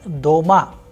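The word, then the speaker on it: дома: example in the word doma which means at home the vowel sound o is pronounced with greater force so the stressed vowel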